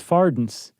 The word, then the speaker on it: farthing: study this thing, that they used to pronounce farthings as fardens. Oh, interesting. Or at least it's something that rhymed closely to gardens.